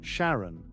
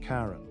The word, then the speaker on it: Charon: fman of the Dead which is why we pronounce the name Sharon not Karen Karen is quite large 750